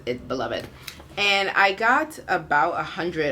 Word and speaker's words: Beloved: And then last night I started Beloved, and it is actually pronounced Beloved because I'm listening to audiobook, and it is narrated by Toni Morrison, and so she pronounces it Beloved.